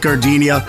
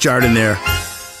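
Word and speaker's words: Jardiniere: Hey guys, when you're at the counter, don't call it Gardenia. It's pronounced Jardinere.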